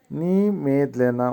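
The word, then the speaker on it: немедленно: নি মেদলেনা। উচ্চারণ হবে নি মেদলেনা।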